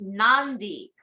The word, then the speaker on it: Nadi: Any word with a D has an unwritten N in front of it. Nadi is pronounced Nandi, and the delightful cold marinated seafood dish kokado is kokonda.